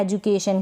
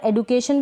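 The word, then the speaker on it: education: ये है एजुकेशन। क्या है? एजुकेशन। यहाँ पर एडुकेशन भी पढ़ते हैं और एजुकेशन भी, ज़्यादातर एजुकेशन पढ़ते हैं इसलिए मैंने एजुकेशन लिखा है।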